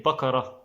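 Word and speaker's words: بقرة: they will say but in classic arabic or most arabic countries like almost every arabic country they will say bakara it means but egyptian they don't always pronounce the letter kaf or k like that they will say ba'ara ba'ara bara means home or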